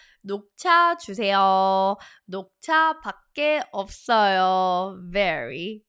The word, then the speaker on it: 녹차: 녹차. Notice, I'm telling you, impossible to forget if you make connections to what you already know before. Knock, knock, knock. 녹차.